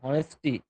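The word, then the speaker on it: honesty: Start from অনেস্টি, start from অনেস্টি, start from অনেস্টি, ঠিক আছে? ওয়ের উচ্চারণ হবে, এইচ এর উচ্চারণ হবে না।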